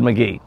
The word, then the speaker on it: McGehee: ask somebody over there if they the locals pronounce it said McGee or McGehee because I've always said McGee and so she did and whomever she asked